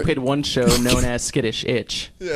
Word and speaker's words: SKiTTiSH iTZ: stuck with it and have been wrongly pronounced ever since. Oh, it's awesome. The pronunciations we get, like skinny itch. Actually, we played one show known as SKiTTiSH iTZ. Yeah, SKiTTiSH iTZ.